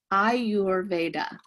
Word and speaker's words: Ayurveda: say it a lot so it is i your veda and what is ayurveda so this is what